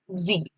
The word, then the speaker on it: Sie: Now this is pronounced same like the way I said here Z. So this is also pronounced as Z.